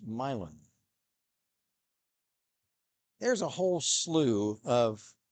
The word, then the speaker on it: Milan: out of Milan Ohio m i l a n if it were in Italy it would be Milan but in Ohio it's milin there's a whole slew